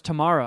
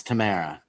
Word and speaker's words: Tamara: I thought it was Tamara on the show. No, it's Tamara.